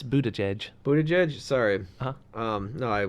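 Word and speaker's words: Buttigieg: ER judge no how do you supposed to pronounce it oh it's a it's Buddha Chege Buddha judge sorry no I was pronouncing it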